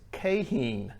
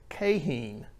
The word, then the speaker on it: Keihin: you out there they're going how did you pronounce that carburetor it's cahen that is the correct pronunciation i will link to a video in the video description which has the company saying that way it is cahen so what was our methodology for testing we